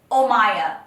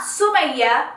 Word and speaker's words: Omaya: It's Omaya. It's not Sumaya. It's not Omaima. It's not Omaya. It's not Amaya. It's not Maya. It's Omaya. Omaya in Spanish, Omaya in English, Omaya in Arabic.